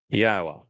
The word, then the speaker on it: Yahweh: of his people that Yahweh, which is God's name properly um articulated based upon haya and Torah which provide us with the instructions on how to pronounce it.